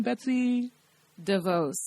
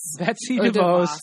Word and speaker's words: Betsy DeVos: And I'm not too well versed on all the issues within it, but again, how do you pronounce her name? Betsy DeVos. Betsy DeVos.